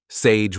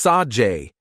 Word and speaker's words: Sage: Looks like Sage. But it's Sajay, Amy insisted.